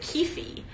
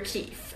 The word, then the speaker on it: Keefe: there's quite a large population of readers that pronounce it Keefy. And there is nothing wrong with that. If you prefer to hear it as Keefy, by all means. But I hear Keith.